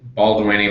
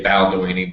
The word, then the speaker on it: Balduini: Some people say Balduini. My mom would say Balduini, but that's I have more the same traditional thing. Italian pronunciation.